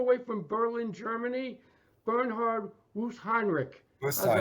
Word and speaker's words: Wöstheinrich: guest all the way from Berlin, Germany, Bernhard Wöstheinrich. How's that? Wöstheinrich. Pronounce it right?